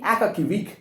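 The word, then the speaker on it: Akakievich: Akakivich, that's the name of this man. Akaki, A-K-A-K-Y, Akakivich, Aka, A-K-A, Kivich, K-I-E-V-I-C-H. Sometimes it's also pronounced as Akaki, Akakivik. H is silent.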